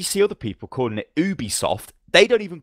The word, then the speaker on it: Ubisoft: wrong for saying Ubie no no no it's UB because on the E3 press conference everybody from Ubisoft came out and pronounced it Ubisoft even that you know the comedian they have on stage she's American she was calling it Ubisoft as well they would